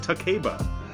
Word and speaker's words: Takeba: names, at least the American voice actors could pronounce them the proper way. You purist. Yukari, it's not that hard. Takeba.